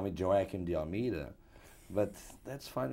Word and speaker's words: Joaquim: Well, I am Portuguese, and in Portugal we say Joaquim, which is not a very easy way to say to pronounce for Americans, but, you know, I'm used to all kind of pronunciations. The correct one is Joaquim, but I'm called, you know, the Spanish call me Joaquim, the French call me Joaquim, the Italian is Joaquino. So any pronunciation goes.